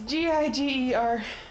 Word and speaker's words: Giger: Well, Geiger painting or Giger painting, whatever. It's Giger.